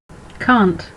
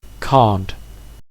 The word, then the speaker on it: can't: So let's hear the British pronunciation of can't. Can't. Can't. And now the American. Can't. Can't. Can't. So if we take the name Kent, contrasting it with can't in British English, the difference is quite obvious. Can't, Kent. But because American English has more of a nasal sound, and like sheep, they sound virtually the same.